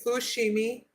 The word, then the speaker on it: Fushimi: fear uh fimi that's how to say it Fushimi in a Grand Shrine I nourish myself and